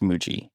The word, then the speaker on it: Muji: I think it's Muji. I think it's pronounced Muji.